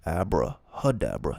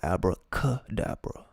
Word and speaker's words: Abrahadabra: out okay abrahadabra and remember it says abrahadabra not abracadabra so be wary it's not abraham hud dapper it's a variation but again that'll be something we get into later abrahadabra the reward of rahur